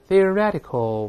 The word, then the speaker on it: theoretical: 个浊化，大声来念 theoretical。